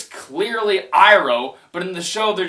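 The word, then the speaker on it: Iroh: Shyamalan tried to screw with fans because he mispronounced the names cuz in the show it's clearly Saka it's clearly in it's clearly iro but in the show they're just like on sooka I EO it's like they it's it's like they purposely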